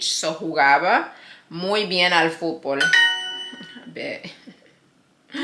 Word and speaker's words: jugaba: Él jugaba, because J is pronounced like a H, so jugaba muy bien al fútbol.